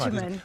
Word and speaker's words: Agyeman: Do you autograph as Martha, or as, here we go, we were working out your pronunciation today, Freema Agyeman. That's Agyeman.